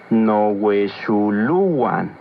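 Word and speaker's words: nohuexoluan: No huexuluan. Recuerda que en el náhuatl las palabras se acentúan en la penúltima sílaba.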